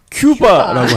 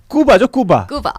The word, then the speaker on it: 쿠바: 나겠습니다 허구연 그 KBO 총재는 왜 항상 큐바라고 할까요 야구도 잘해 그래서 야구 선수들이 많이 하잖아요 쿠바 원래 쿠바인데 원래 발음은 근데 이제 미국 사람들이 항상 그 된소리가 발음이 안 되잖아요 그러니까 이제 큐바 님께서는 그 뭔가 미국 쪽 발음을 좀 이렇게 원용하신게 아닌가 요 쿠바 출신